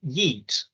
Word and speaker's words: Yeet: to ask I was quite intrigued well why Yeet what does that mean where did you get